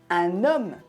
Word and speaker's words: un homme: C'est pour ça que j'ai dit un homme. J'ai fait la liaison, parce qu'on fait la liaison devant une voyelle ou un H muet. Un homme.